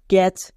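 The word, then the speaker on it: catch: এখানে সাইলেন্ট কেন কারণ টি এর পরে সি এইচ থাকলে টি সাইলেন্ট উচ্চারণ হয় না তাই এখানে টি সি এইচ ব্যবহার করা হয়েছে এর ফলে আমাদের সাইলেন্ট লেটার লেখাও হয়ে যাচ্ছে যেমন দেখো ক্যাচ সি এ টি সি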